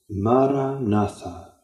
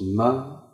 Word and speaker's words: Maranatha: And the word I recommend you to say, Maranatha. Four equally stressed syllables. Maranatha.